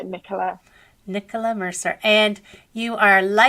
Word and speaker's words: Nicola: I know in America it's usually pronounced Nicola, but yeah, Nicola.